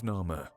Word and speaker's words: Narmer: The first figure is of a catfish, pronounced Nar, and the second of a chisel, pronounced Mer in ancient Egyptian.